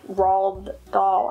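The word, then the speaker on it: Roald Dahl: like this one okay this name always is hard for me to pronounce and i know he's so famous but it's just like raw doll i i just is like doesn't roll off the tongue but going solo this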